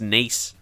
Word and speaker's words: Nice: OGC Nice, or I think it's pronounced Nice in France.